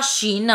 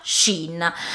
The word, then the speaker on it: Shein: Un piccolo chiarimento: mi dite sempre sotto il video che non si pronuncia Shein, ma in un altro modo. Si pronuncia Shane, Shane Shane. No, ragazze, si pronuncia Shein.